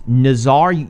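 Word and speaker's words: Nazaré: It's Nazare. You can take it, Damien. It's Nazare.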